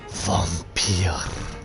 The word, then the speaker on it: Vampyr: responsibility for your actions Vampir there is the correct pronunciation fun way Vampir now the ACD review